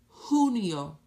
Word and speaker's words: julio: breathe abrini Mario Mario Julio the letter J sounds like the letter H Julio Julio Julio you may